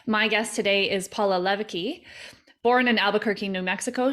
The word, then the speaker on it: Leweke: Yeah, it's pronounced like a V, Leweke. Leweke.